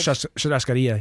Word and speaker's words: churrascaria: Churrascaria, yeah.